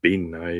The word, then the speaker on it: bean-nighe: names, so I'm going to butcher it, uh Bean-Nighe, I think. And uh Bean-Nighe, yeah. It's It's pronounced Bean-Nighe, yeah.